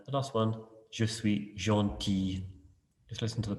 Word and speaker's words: gentil: And the last one, je suis gentil. Just listen to the pronunciation.